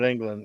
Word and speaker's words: Englund: England, so it may be pronounced a little different than England. England? Oh. It's England, isn't it? England? Yeah. Spelled England. Robert England? Yeah. England. Yeah, Robert Englund.